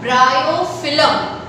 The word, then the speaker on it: Bryophyllum: The leaves of bryophyllum. How will you pronounce it? Bryophyllum.